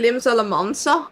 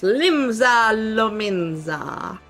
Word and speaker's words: Limsa Lominsa: You always hear Limsa Lamansa? Why? It's Limsa Lominsa.